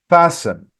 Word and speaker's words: fasten: on your seat belt fasten all right so T is silent fasten phones and tablets Etc